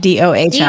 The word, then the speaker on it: Dohm: it's spelled DOHM, by the way. Yep. DOHM. Oh, yeah. Like, That's good. Om and Do combined.